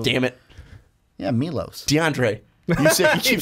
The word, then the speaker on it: Milos: Yeah, Milos.